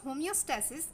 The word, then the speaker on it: homeostasis: এই টপিকসটার যেই প্রোনাউন্সিয়েশন আছে সেটার উপরে আমাদের একটু বিশেষভাবে নজর দিতে হবে, বিকজ হোমিওস্ট্যাসিস এবং হিমোস্ট্যাসিস এই দুটো ওয়ার্ড সম্পূর্ণ আলাদা।